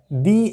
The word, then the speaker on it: the: তার কারণটা একটাই, এটা লিখতে তো একই, দুটো দি একই, লেখার সময়, উচ্চারণের সময়, প্রোনাউন্সিয়েশনের সময় একটু আলাদা হয়ে যাচ্ছে। তাই আমরা দি বলছি, এটা দা বলছি। আর একটু ভালো করে দিলে, এটাও দি, এটাও দি, দুটোই দি, কিন্তু উচ্চারণের ক্ষেত্রে এটা দি, এটা দা, দ্যাটস অল। ভাওয়েল সাউন্ডের উপরে নির্ভর করছে দি ও, মানে দি